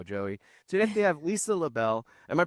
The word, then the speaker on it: LaBelle: Today they have Lisa LaBelle. Am I pronouncing that right?